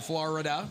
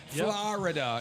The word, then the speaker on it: Florida: You just spent some time down in Florida. Yep. Florida is how you're supposed to say it, not Florida.